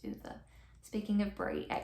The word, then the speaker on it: Ove: I think Bree said it's pronounced Uwe.